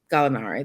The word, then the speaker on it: Gallinari: Did I pronounce that correctly? Yeah, Gallinari.